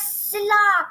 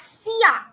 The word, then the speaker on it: silla: It is known as sia. Why sia? Because every double L in Spanish, whenever you find double L in any word of Spanish, you don't have to pronounce it la.